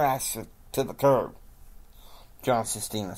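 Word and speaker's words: Cistina: Jim is meeting with his dream team, along with his press at the press attendant, John Sestina. And it's spelled C-I-S-T-I-N-A.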